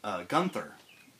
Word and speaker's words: Gunther: War II um you play as welen gun Gunther yeah yeah that's how you say his name